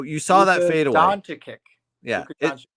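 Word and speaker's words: Dončić: Luka Doncic. Luka Doncic.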